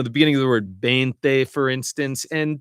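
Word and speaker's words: veinte: beginning of the word bente, for instance. And depending on what dialect you're speaking, it's going to be kind of a bb. It's a soft bente.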